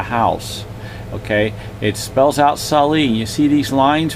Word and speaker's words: Salai: It's spelt out S-A-L-A-I, Salai.